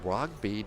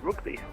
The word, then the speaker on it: Rugby: Yeah, like the sport. Rugby. Like the muscular men rugby.